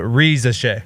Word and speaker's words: Risacher: It's Ricochet.